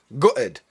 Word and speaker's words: gutted: Up next, we've got the word gutted, or as I pronounce it, gutted.